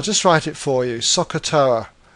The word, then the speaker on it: SOHCAHTOA: most popular ways is a phrase which is pronounced Sakura I'll just write it for you Sakura like this what this is really trying to